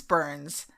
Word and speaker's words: Byrnes: The guard assumed that he was hearing the voice of Truman's Secretary of State, James Burns, spelled with a Y, Byrnes, but learned that Burns was out of the country at the time.